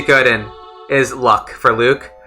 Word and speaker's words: Luc: said it's spelled l-u-c it's spelled l-u-c it's like like jean-luc picard right yeah it's about it's about like that yeah a lot of people say luck japanese it's it's are you kkku i got it right um but in english they spell it l you see and so i say luke a lot of people say luck though but you know it's and